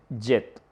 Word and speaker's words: jet: La número ocho, eh, jet, que es kj, pronunciada como un solo sonido, indivisible.